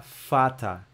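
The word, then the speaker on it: Vater: galera o primeiro integrante vai ser o de fata só Repete comigo ó de fata como é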